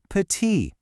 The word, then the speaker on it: petit: See that T on the end? You just ignore it. It's pronounced petit.